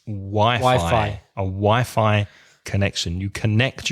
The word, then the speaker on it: Wi-Fi: Be careful. In English, it's Wi-Fi. A Wi-Fi connection. You connect your mobile device to the Wi-Fi. What's it short for? Wireless Fidelity. Wireless Fidelity. I didn't know that. Wi-Fi.